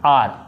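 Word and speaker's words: hour: एच ओ यू आर, इसको क्या पढ़ेंगे हम लोग, आर, आवर भी नहीं, आर, आर, और इसको क्या बोलते हैं, एच ओ आर एस ई, हॉर्स, हॉर्स, यानी ये हॉर्स।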